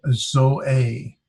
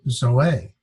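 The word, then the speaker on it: ζωή: All life, zoe. It's pronounced with 2 syllables or 2 vowels, and we separate. I hate it does that. Zoe, and there's the accent, so it's zoe.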